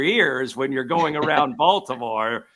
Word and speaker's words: Baltimore: big one here is calling it balmor instead of It's Not Baltimore or anything so Balmer is probably the best one you can get out of me and that wasn't no